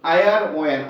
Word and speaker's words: iron: Iron, IRON, iron, IRON. The pronunciation is iron. R is silent.